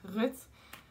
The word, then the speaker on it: Ruth: My name is Ruth, or in Dutch you actually pronounce it as Ruth, but I'm really used to pronouncing it as Ruth in English because that's the normal way in English.